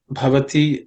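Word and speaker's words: भवति: In terms of pronunciation, bhavati, I think we already, there are 4 times bhavati comes. The bha is aspirated consonant.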